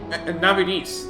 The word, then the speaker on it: Nabudis: Next stop is Nabudis to do Nabudis. That's how you pronounce it.